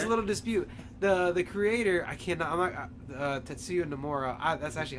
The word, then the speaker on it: Tetsuya Nomura: The creator, Tetsuya Nomura. That's actually how you pronounce it.